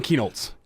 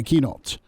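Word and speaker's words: Kienholz: Oh, Lincoln Keenoltz. Yeah, Keenoltz. He ends up picking Ohio State over Caleb DeBoer and Washington. So hey, we're not going to take a 2023 quarterback has turned into, Keenoltz is too good to pass up.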